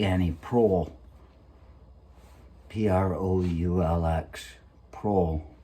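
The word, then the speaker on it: Proulx: e annie pro p-r-o-u-l-x pro i'm supposing it's pronounced it can't be pokes i'm sure that people say it wrong all the time it just doesn't make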